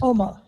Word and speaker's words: Oma: How do you pronounce it? Omar.